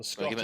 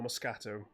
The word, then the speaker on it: Moscato: Moscato or Moscato. How do you pronounce it? Oh, Moscato.